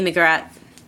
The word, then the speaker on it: McGrath: together, just even Katie McGrath, correcting the pronunciation of her name. Sure. The H is silent.